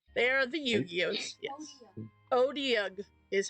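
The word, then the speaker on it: Otyugh: Odiug is how to say it.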